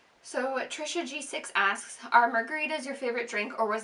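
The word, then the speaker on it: Margaretha: Kimberly Margarita dorine Weber Margarita is actually spelled differently from how I spell it on my Instagram it's spelled n a r g a r e t h a but nobody um nobody knew that it was pronounced Margarita so I just chose to spell it like Margarita like the drink cuz it just seemed easier miss.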